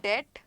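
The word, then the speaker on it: debt: डेट, this is another word डेट, जो मैंने अभी सेंटेंस में यूज किया. इसको इसमें बी साइलेंट होता है. इट is pronounced as डेट.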